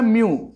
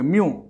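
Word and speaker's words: mu: Refractive index का symbol होता है म्यू, इसको बोलते हैं म्यू, प्रोनाउंसिएशन में एम यू बोलोगे, म्यू। क्या बोलोगे, म्यू।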